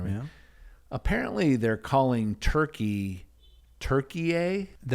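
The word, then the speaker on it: Türkiye: I haven't heard them do a story on it, but we're just to assume that it's not Turkey, it's Turkiye.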